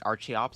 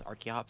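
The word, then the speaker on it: Archeops: Archie Ops. Archops. I don't know why I just called it Archie Ops.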